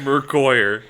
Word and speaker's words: Mercoire: Mercoire Mercoire, not Merqua or whatever.